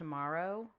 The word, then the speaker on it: Morrow: I believe it's pronounced Morrow. I think that's Morrow? right, Morrow. Yeah. It's like Maru the cat, but with an O instead.